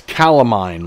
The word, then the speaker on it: calamine: That's calamine lotion, not catamine. Okay. All right, never mind. Spell the same way, C-A-L-A-M-I-N-E.